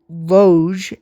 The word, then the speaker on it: Loge: Peter Loge, L-O-G-E, is how you pronounce the name and spell the name, ladies